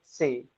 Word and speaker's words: C: ए को प्रोनाउंस करेंगे आ, बी को प्रोनाउंस करेंगे बे, सी को प्रोनाउंस करेंगे से, लिटिल टी साउंड इसमें इंक्लूड हो जाएगा से, डी को प्रोनाउंस